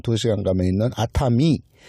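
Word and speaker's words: 熱海: 그리고 온천 지역 중에 유명한 도쿄 근방에 한 2시간 가면 있는 아타미. 아타미 온천 열해라고 써놓고 바다 해자를 또 미라고 해요.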